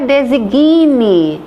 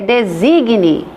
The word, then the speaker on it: designe: Não é design, é designe.